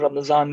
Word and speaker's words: Ramadan: alaikum everyone and um without getting into the debate of ramazan versus ramadan i would say that's how you say it in india and pakistan so um i hope